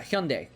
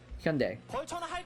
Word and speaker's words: Hyundai: Yeah, Hyundai. Hyundai. Is how it's pronounced in Korean.